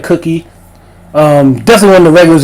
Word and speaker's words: CUQY: I think it's spelled pronounced like cookie.